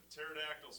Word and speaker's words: pterodactyl: pterodactyl's flying over you. Why don't you hear it? The P is silent.